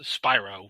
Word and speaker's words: Spyro: it was the way it was spelled is pronounced Spiro, but yes, you're right, it is Spyro.